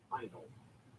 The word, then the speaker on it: Handel: Handel is the way it's pronounced.